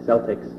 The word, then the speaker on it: Celtic: So if you have the hard K sound at the beginning. Generally nowadays the S sound is reserved for sports teams. So there we have basketball coming up already. The Celtics is also the Celtic Football League in Scotland.